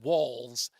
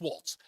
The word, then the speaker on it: Walz: uh and I understand everybody's pronouncing walls it's Waltz um Nancy Pelosi said